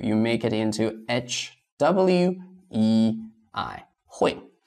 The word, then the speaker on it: 会: So this UI is not the full spelling. So the full spelling is H-U-E-I. It's still not easy for you. You make it into H-W-E-I. 会.